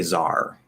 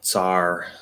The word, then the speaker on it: tsar: of russia or whatever which we could also say czar that's another pronunciation that's probably how it's supposed to be it's just spelled ts um so sar tsar czar all three of those are used um the second one